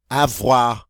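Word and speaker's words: froid: number six coming up F wah wah wah wah wah all right we get that our sound in there the D is silent so it's full ah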